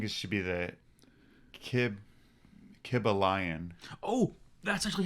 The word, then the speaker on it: Kybalion: it i think it should be the kib kibba lion oh that's actually how i pronounce that's how he pronounces it that's how it is kibble lion that's perfect the kibble lion and he he